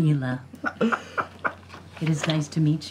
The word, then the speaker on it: Nila: was neva who's nila nila you had it right the first time nailed it I am Neela it is nice to